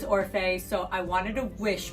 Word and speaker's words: Orfeh: And I remember having to say Orfeh, and then I put a pronunciation key right after my name, O-R-F-A-Y.